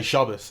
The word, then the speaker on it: Shabbat: You know, Shabbat is kind of the way that you would read it off a piece of paper, but if you're Jewish, then you kind of you learn to pronounce it Shabbos. That's how everyone says it.